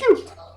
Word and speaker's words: Qhute: Cute, which is spelled Qhute.